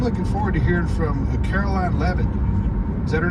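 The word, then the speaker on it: Karoline Leavitt: heard I'm I'm looking forward to hearing from Caroline leevan is that her name that's that's exactly how you pronounce it she's 27 years old and she's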